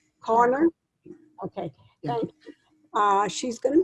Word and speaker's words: Carney: Corner?